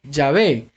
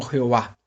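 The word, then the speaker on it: Yahweh: con consonantes 3g hbh en hebreo se pronuncia llave y en el castellano se escribe llave luego yo nunca lo pronunciaron como jehová los israelitas tenían mucho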